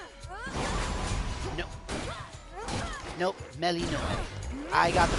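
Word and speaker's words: Melinoë: I don't honestly think most of these dresses look bad on Melinoe. No. Nope, Melinoe. I got the pronunciation wrong a couple of times too.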